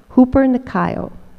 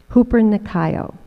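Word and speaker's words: ὑπερνικάω: new testament there is a word that is pronounced hooper nakayo hooper nakayo i love it it sounds good i love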